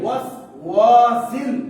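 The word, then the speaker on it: الوسواس: শার, শার, শার, শাররিল ওয়াসওয়াসিল আমি কি ওয়াসু বলছি ওয়াস বলছেন না ওয়াস মিন শাররিল ওয়াসওয়াসিল আপনারা যেটা বললেন সেটা কি ওয়াসওয়াসিল না ওয়াস ধরে রাখুন মিন শাররিল ওয়াসওয়াসিল বলেন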